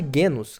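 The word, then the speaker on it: genus: dentro daquela terra e essa parte guenus que se escreve genos mas em latim clássico G é sempre duro está presente indígena é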